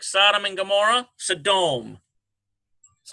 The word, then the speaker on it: Sodom: Sodom. That's how that's pronounced.